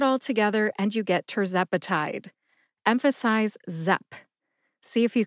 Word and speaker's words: tirzepatide: tepati has four syllables tur like turbocharged Zep which rhymes with pep uh which is a